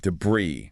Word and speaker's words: debris: And like many French loanwords, that final zuz is silent, and the stress is on the second syllable. The correct pronunciation is Jabri. Jabri, like debris.